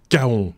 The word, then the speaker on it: kaon: Il désintègre des kaons. Alors il faut expliquer ce que c'est. Ou des kaons. Ça se prononce. Ah oui, c'est comme des pans, mais avec un K.